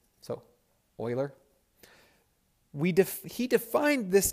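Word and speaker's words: Euler: mathematician so this is Oiler number Oiler is spelled e u l e r and it's pronounced Oiler so Oiler we def he defined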